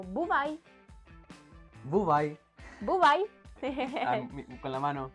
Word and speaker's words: бувай: Decimos en ucraniano бувай. Como buvai.